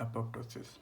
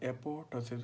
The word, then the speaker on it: apoptosis: ठीक है, आप इसको जो है ना एपोप्टोसिस भी पढ़ सकती हैं और एपोटोसिस भी पढ़ सकती हैं। बेसिकली यहाँ पे जो पी है ये बीच वाली ये साइलेंट है।